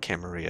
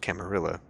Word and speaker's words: Camarilla: sounds tasty so in this game it's not camarilla it's pronounced camarilla which is of course up for debate amongst